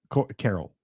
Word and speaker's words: Coral: Carol. Oh, Carol. I know. No, this says Coral. No, but it is. They called him Carol. That is spelled Coral.